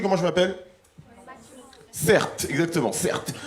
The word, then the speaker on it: Certes: Certes, exactement, certes. Mon prénom c'est Certes, ça s'écrit C-E-R-T-E.